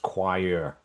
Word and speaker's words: choir: it seems written, but it's not pronounced anything like it's it's written. It's pronounced choir.